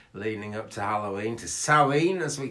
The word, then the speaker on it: Samhain: a crazy week leading up to halloween to salleen as we call it um our sum it's spelt s-i-m-h-a-i-n samhain but we pronounce it sally that is coming up next weekend but i'll